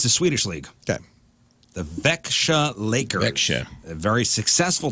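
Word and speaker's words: Växjö: Vejo Lakers. Nope, that's not how you pronounce it. Well, Vexia.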